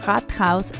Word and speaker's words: Rathaus: We then got to the city center, where the town hall, or Rathaus as it is pronounced in Germany, is located, got our Starbucks fix and went on to explore more of the city.